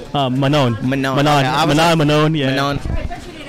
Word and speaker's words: Manon: Manon.